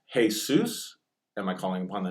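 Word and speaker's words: Jesús: name of the Lord would be hey Seuss now those are pronounced totally differently Jesus hey Seuss and think about it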